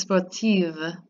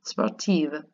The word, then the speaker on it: sportive: Becomes sportive, and that's just pronouncing the V, sportive.